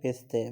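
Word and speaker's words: پسته: پستے وہی پستہ ہے، یہ اردو فارسی ایک ہے، فقط تلفظ کا فرق ہے، ہم کہتے ہیں بادام و پستہ، یہ فارسی والے کہتے ہیں پستے، باقی کوئی فرق نہیں ہے۔ اس کے بعد لفظ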